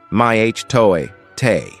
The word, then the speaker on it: mitote: Your whole mind is a fog which the Toltek called a mito pronounced my Toe t.